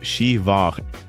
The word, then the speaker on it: Siobhan: Take the name Siobhan, which is pronounced Shivach, or Nia, pronounced Nev.